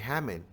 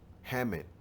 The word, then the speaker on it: Haman: This Ammon right here is the same man, which is named Haman, right? This is just how you say his name in the Greek.